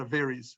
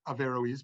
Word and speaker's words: Averroes: some people pronounce it a varies like if they're speaking fastly but some people say averoes but they pronounce the O in any case um